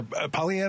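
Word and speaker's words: Poilievre: the future but the conservative party leader Pierre PV is that am I pronouncing that properly yeah that's right appears to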